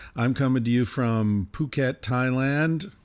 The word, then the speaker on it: Phuket: i'm coming to you from phuket thailand not it it's spelled as if it would be it but it's pronounced phuket interesting interesting time to be in thailand it's